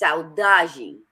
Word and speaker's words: saudade: That's why I love the Portuguese word that Ephraim, Mr. Sexy Delicious, taught me correctly how to say, and it's saudade. Even though it's not spelled like that, but it's saudade, which means I miss you, like to the core.